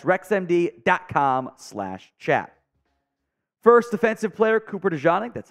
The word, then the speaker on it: DeJean: First defensive player, Cooper DeJean, that's how you pronounce it, out of Iowa.